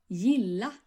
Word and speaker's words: gilla: And the Swedish word for like in its basic form will be pronounced like this. Gilla.